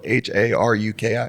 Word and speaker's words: Haruki: like I said before it's spelled h a r u k i so it's Haruki right simple as it gets people don't think it